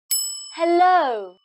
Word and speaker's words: hello: how to do that hello when you greet someone for the first time you start by saying hello hey low the stress is on low so you make the sound louder and longer low o low o